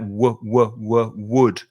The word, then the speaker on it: wood: would you have to we would put your lips like that would would some spanish speakers it comes from the throat it sounds like a g but it's only from the lips only from the mouth would the same pronunciation